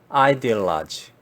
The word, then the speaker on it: ideology: ideology, ideology 라고 합니다. 전혀 발음이 이데올로기하고는 전혀 발음이 다르죠.